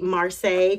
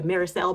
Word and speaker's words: Marseille: bags um specifically the Marseille crossbody bag I believe that's how you say it at least that's how you say it in French um for us Americans it may be the marisel bag but this is the